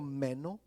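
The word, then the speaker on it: μένω: palabra permanecer mis hermanos del griego meno con acento en la eh significa quedarse en un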